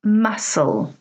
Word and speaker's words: muscle: Well, hopefully you notice that each of these words has a letter which is silent.